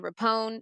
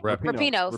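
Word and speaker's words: Rapinoe: Russell Wilson and Megan Rapone. Is that how you say her name? Rapino. Sorry, Yep. Rapino.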